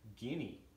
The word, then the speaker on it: guinea: this first of all Guinea talk to pronounce very interesting word lots of vowels in that word but it's pronounced guinea and fowl which means